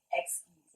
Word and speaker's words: Exquise: Exquise, actually. Excuse me? There's in French. That's right. How do you say it again? Get that right. How do you say it? Exquise.